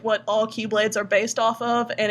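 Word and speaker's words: χ-blade: word key it's with the Greek letter Chi which is an X but they pronounce it as key because hey why not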